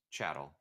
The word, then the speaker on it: chattel: No, it's chattel, like chattel slavery, like cattle.